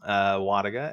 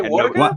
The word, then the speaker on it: Wlodyga: It's like the L is silent.